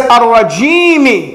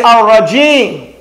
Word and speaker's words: الرجيم: Normally, when we pause, when we stop, we don't pronounce that. We say, ar-rajim. However, when we're joining the ta'awudh with the basmalah, we do recite the rajimi.